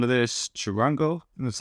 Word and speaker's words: charango: I like the sound of this charango, that's how you pronounce it.